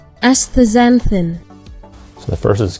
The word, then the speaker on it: astaxanthin: best here, but I'll show you the proper pronunciation real quick. We'll get some help from Google. Canthaxanthin. Astaxanthin. So the first is Canthaxanthin, and the second is Astaxanthin.